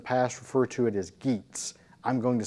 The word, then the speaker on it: Geats: We have the Geats, now I'm going to pronounce that " G"as if it is a "Y" because in Old English that's actually what would have been you may have heard